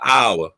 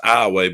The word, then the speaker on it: Iowa: iway yes Fri ribs it's not Iowa it's ioway because in Louisiana we can't pronounce nothing right no Ally says yes